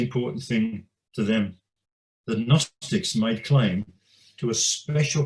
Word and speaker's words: Gnostics: a greek term of gnostics now the word begins with a g but we don't pronounce the g and it comes from